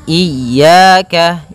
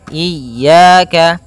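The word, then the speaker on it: إِيَّاكَ: ini hati-hati dalam pelafalannya ada dua kesalahan yang sering terjadi yang pertama yaitu dia memanjangkan Iya nah seperti itu harusnya dia ee ditekan dan dilembutkan iyaka iyaka nah kemudian jangan sampai dibaca panjang jangan iaka tidak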